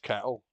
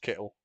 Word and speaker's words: Kittle: George Kettle. Oh, it's Kittle.